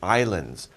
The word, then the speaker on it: island: so we call these islands by the way we don't pronounce the s in island it's just island not